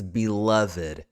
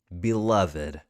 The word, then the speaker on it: beloved: nice job number nine beloved is a voice sound but wait a minute this is one of those exceptions from the last slide here this is beloved it works the same way as naked beloved and finally for number